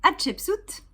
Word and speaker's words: Hatshepsut: Non, ça n'est pas si difficile à prononcer. Chapeau, si vous voulez. Shep, comme un cep quand on a un cheveu sur la langue, vous voyez, voilà. Soute d'un bateau.